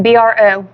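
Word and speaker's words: Breaux: B R O Long O. Exactly. Bro, bro like bro.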